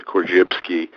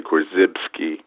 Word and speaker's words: Korzybski: YB s k i i give it the Polish pronunciation kbski but uh many people just say corsky and uh he was